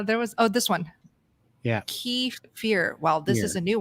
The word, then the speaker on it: kefir: Kefir. Okay. This doesn't really help. It's definitely kefir. Kefir. Emphasis on the er. Thanks, Jerry. Yeah. Now there was this one. Yeah. Kefir.